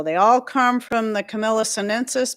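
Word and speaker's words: Camellia: So they all come from the Camila sensus, but you can also use your Camila or Chameleia for those people who get a little bent out of shape with the way I pronounce it.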